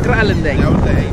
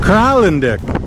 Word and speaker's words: Kralendijk: the town of what I'm going to call Kralendijk. But I don't know. Let's ask a local. Bless you. Sir, how do you pronounce the name of this city? Kralendijk. Kralendijk. Kralendijk.